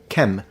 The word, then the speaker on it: Kmt: know that linguistically speaking the pronunciation KET has no academic linguistic dignity it clearly comes from the Coptic pronunciation Kem and Ki in the boic dialect the long e in